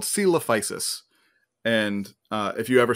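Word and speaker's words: Coelophysis: that one more time celophysis it's it's not spelled how you think um yeah so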